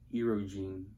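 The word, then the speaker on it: Erdoğan: dangerous what about turkey what's that guy's name erogene I think that's how you pronounce it EO that guy's a piece of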